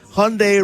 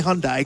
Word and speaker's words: Hyundai: and it's easy way to remember how to pronounce it Hyundai Rhymes a Sunday yet Dave Cook loves to still say Hyundai cuz he's a fun guy I wrote Hyundai